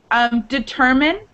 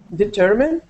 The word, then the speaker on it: determine: And determine. Determine? Determine. It's not determine. Determine. It actually sounds more like an I in American English.